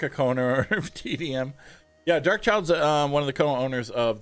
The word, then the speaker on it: Dark Child: Everyone calls him Dark Clyde. Dark Clyde. He hates that.